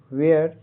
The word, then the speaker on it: वेयर: वेयर डब्ल्यू ई ए आर का उच्चारण वेयर।